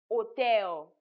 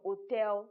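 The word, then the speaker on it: hôtel: And then another example here is the silent H in words like hotel. The H at the beginning of hotel is silent.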